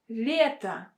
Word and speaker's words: лето: Лето, лето. we have a stress on the vowel Y. So that is why it should be pronounced as with a softened L.